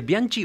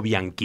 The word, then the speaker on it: Bianchi: cómo pronunciar su apellido usted prefiere Bianchi o bianqui es lo que yo prefiera en realidad es bi para que sea Bianchi tendrían que ser dos c pero bueno ya todo